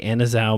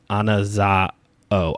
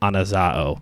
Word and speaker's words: Anazao: pronounced anaza anaz an anaza oh anazao because it's a Omega at the end anazao we'll just call